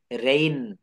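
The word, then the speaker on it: reign: এখানে IGN আছে শব্দের শেষে, IGN, অর্থাৎ ওয়ার্ডের শেষে IGN থাকলে তার উচ্চারণ আইন হয়। ডিজাইন, রিজাইন, রেইন, রেইন মানে হচ্ছে রাজত্ব, রেইন অফ সম্রাট আকবর, রেইন of Sheikh Mujibur Rahman, রেইন অফ কারো নাম বঙ্গবন্ধু।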